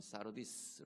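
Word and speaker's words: Sardis: 이렇게 분류를 많이 해보는데 사데 교회는 책망 만들은 교회입니다 보면은 4대 라는 도시는 아 영어 발음은 싸 루디스 라고 발음을 하는 거예요 5 원래는 이 4대는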